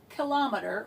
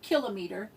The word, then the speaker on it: kilometer: want to go bigger we say kilometer or kill a meter either one is an okay pronunciation we want to go